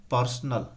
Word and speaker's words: personnel: पर्सनल, पर्सनल माने क्या होता है, पर्सनल बिलोंग्स टू, व्यक्तिगत होता है।